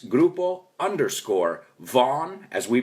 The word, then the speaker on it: Vaughan: follow grupo bogan on Instagram it's grupo underscore Vaughn as we pronounce it and make sure you follow us